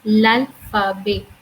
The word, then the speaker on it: l'alphabet: This is exactly we say l'alphabet. Last T, which is the I would say that is the last consonant. Most of the time, we do not pronounce in French language.